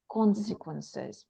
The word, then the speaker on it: consequences: result as a result the first syllable is stressed consequences mhm so and here